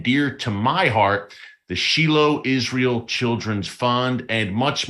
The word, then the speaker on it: Shiloh: In the West, many people pronounce it Shiloh. In Israel, they call it Shiloh.